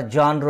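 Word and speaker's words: genre: जॉनर म्हणजे साहित्य प्रकार याचा उच्चार जॉनर आहे लक्षात ठेवा जी इ एन आर इ असं त्याचं स्पेलिंग आहे त्याला साहित्य प्रकार आपण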